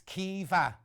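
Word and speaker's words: Caoimhe: wonderful uh thank you in case you can't pronounce my name it's kieva how fun or kivar is it kivar or kiva look how it's spelled though i'd never have guessed that that's like siobhan isn't it you think you could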